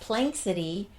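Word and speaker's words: Planxty: And we found out that Plank City is a We don't know if we're pronouncing it right, but it looks like that. P L A N X T Y is a term that means in honor of like right.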